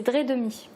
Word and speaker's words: Dreidemy: Alors, que je prononce bien cette fois-ci, parce que tout à l'heure je l'ai écorché, c'est Dredemi.